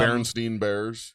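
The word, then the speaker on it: Berenstain: I always thought it was spelled with the German spelling, the EIN, and apparently I'm wrong. It's like literally baron. It's like stained coffee stained bears.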